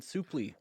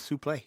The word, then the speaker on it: Suplee: it's a souply Ethan souply oh I had to look that pronunciation up oh it is souply yeah okay I thought it was Sue play I did too I thought it was suply remember we we talked